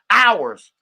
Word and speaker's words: hours: which is um uh hours hours is miles per hours which is they put in ly notes hours is hours but it ain't a silent h there it's just o URS which is ours you feel me time